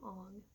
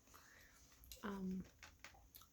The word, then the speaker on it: Aang: many of the names, like Aang here, they called him Ong, and I don't know if they were trying to be Like they felt that sounded more like what what his name would be pronounced like in the culture. I don't know if they were trying to say it was like an alternate universe or something, or they just didn't know how to pronounce his name Aang.